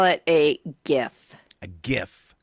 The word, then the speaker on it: GIF: I call it a GIF. A GIF. With a soft G.